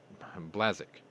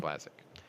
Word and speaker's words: Błaszczak: his Polish counterpart, Mariusz Błaszczak. I think that's Błaszczak. And Błaszczak? Błaszczak. Blaszczak. Błaszczak, yeah. It's almost like saying Chiswick, but it's spelled Cheswick.